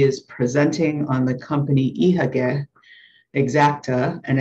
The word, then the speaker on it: Ihagee: I am Vladimir Khazan, and today we are going to talk about company name Ihagee, which spelled in German and pronounced in German this way.